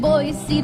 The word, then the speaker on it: Boise: Lots to see in boy, but there is no C in Boy.